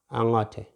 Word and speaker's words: angote: but te, you see, it's not te, it's not angote, it's angote, ango. You see here, ngo. It is not ngo, like the other O. This is ngo, angote. So this is a light O, and this is the light E, angote.